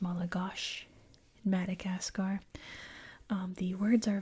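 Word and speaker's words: Malagasy: Um I always use the example of in English we say Paris but they actually say pi you know um malagosi is pronounced malagosh Madagascar um the words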